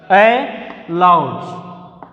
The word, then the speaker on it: allowed: Allowed, our stress is on the L, above the L, the second letter starting syllable L పైన వస్తుంది. Allowed, our pronunciation also a loud.